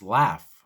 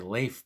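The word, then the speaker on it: Lafe: not mike pence but his first name is spelled l-a-f-e pronounced laugh or laugh pence some people say leaf pence but it's laugh pence that's how it's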